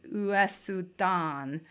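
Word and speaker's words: ウエスタン: Western is a play on how the Japanese pronounce the word Western, which is Uesudan, and also a reference to Western films.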